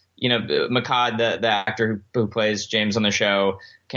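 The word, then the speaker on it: Mehcad: So it's Mashad. Is that how you say it? Give me his full name. Makkad Brooks.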